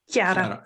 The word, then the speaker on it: Chiara: Chiara. It's like Chiara. like a K.